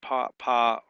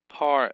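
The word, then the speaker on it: פַּרְעֹה: The shiva under the rash is preceded by a short vow. Therefore is silent. So that's how you know it's not po, it's parro o.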